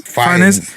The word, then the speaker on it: Fiennes: Fiennes, yeah.